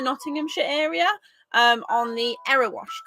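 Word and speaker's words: Erewash: area um on the error wash canal which until a couple of days ago we have been pronouncing ear wash every time we send it to like several boaters we'd be like oh yeah we're going onto the ear wash and be like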